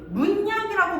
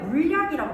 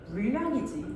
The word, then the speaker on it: 물약: 근데 우리가 두 가지 발음해 보면 돼. 문약이라고 발음해요. 물약이라고 발음해요. 물약이지. 문약이라고 하는 사람 없잖아. 이거는 유마가 이루어지겠다. 그래서 발음 물 약이 되는 것이다.